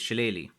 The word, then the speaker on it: shillelagh: Again, for me, look, how I would usually say it is Shillelagh, and I think that's the most common way that I hear it pronounced now.